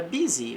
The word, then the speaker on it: busy: Vem da palavra successo também com a palavra busy. Veja que este U vai ter o som de I.